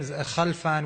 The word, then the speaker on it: Khalfan: People have difficulties pronouncing my name, and I usually like to call my name Khalfan, which rhymes with have fun.